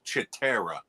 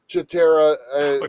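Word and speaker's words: Cheetara: catch chatara she gets her own book it's pronounced chera chera this thund uh the subtitle is hunt for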